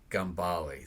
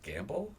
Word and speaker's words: Gambell: So I always say it's Gambali. Think Da Vinci. And so many times growing up it was Gamble.